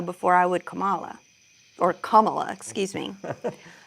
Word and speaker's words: Kamala: Or Kamala, excuse me.